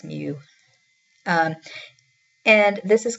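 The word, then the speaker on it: μ: u say them together you say it like it's actually spelled m mu but you would say like a kitten I guess Mew um and this is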